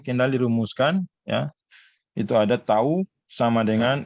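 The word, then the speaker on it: τ: Pengembangan dari Rang-Sparman disimpulkan dengan itu kayak huruf apa itu, huruf T, bacanya tau, ya.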